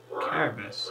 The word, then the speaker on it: Cerberus: Cerberus. I think you pronounce it with K, but it's C.